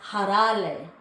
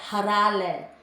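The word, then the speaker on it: הראל: To pronounce in Hebrew, it's actually pronounced harale. You can see in the brackets there, harale.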